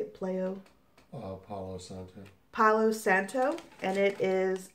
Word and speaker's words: Palo Santo: Palo Santo.